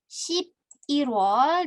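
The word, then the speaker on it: 십일월: Oke, lalu untuk pengucapan gitu ya, pengucapan yang perlu diperhatikan adalah 2 bulan ini. Shibirwol dan Shibiwol. Kenapa? Karena pengucapan ini nih, aduh, sebentar. Pengucapan il dan i kalau tidak jelas nanti keliru.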